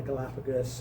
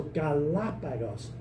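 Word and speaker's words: Galápagos: And if you know anything about Spanish, you know that if the accent doesn't fall naturally in a word, then they will mark the accent, which syllable gets the accent. So Galapagos rather than Galapagos or something like that.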